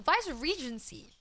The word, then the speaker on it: Viceregency: The Viceregency? Viceregency? Viceregency? I don't even know. I'm Googling it. Thanks, Ray. Thank you so much. Oh, fuck. Vice-Regency. Oh, okay. It was not that complex. The Vice-Regency.